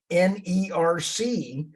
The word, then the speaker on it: NERC: with jerk um nerc they're called nerc rhymes with jerk um I'm serious and